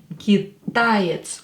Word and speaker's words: китаец: Китаец. Ударение на букву А.